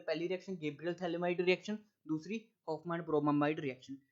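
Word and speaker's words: Phthalimide: ठीक है ना भाई, और पी तो स्टार्ट होता है क्योंकि पी साइलेंट है, ठीक है, इसको बोलते हैं थैलामाइड रिएक्शन, ठीक है, गैब्रियल थैलामाइड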